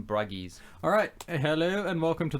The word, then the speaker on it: Bruges: have you seen in Bruges yes with what's-his-name Colin Pharrell Williams Gleeson yes although it's pronounced the in Bragg ease alright hello and welcome